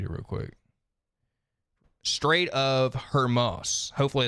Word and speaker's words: Hormuz: it affected certain jobs with the Strait of Hamas. I feel like I'm saying that so wrong. How do I pronounce this? Let me read it real quick. Strait of Hormuz.